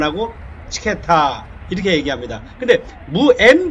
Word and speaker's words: 므츠케타: 무치케타. 무치케타의 M자, 처음에 오는 조지아의 M은 사실은 묵음 처리됩니다. 그래서 조지아에서 무치케타 이러면 사실은 잘 못 알아들었고 물을 거의 발음을 안 하고 치케타 이렇게 얘기합니다.